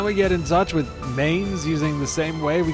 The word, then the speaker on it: Mainz: a hold up in Mains not mines Mains all that I remember